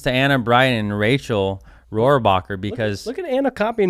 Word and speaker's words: Rohrabacher: Rohrabacher. So congratulations to Anna Bright and Rachel Rohrabacher, because look at Anna copying me with the neon green shoes.